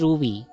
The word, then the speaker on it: Rui: Arenas, at kay Jeji Rui. Okay, sabi niya, ayan, okay. So ito na, kababanggitin lang. Hello, Ma'am Shi, regarding sa pronunciation ng name ko, it's pronounced as Ru. Like Ruru Madrid.